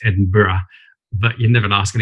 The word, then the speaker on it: Edinburgh: the scholarship i got by the way it's edinburgh but you never ask an englishman to to correct a pronunciation to an american so forgive me for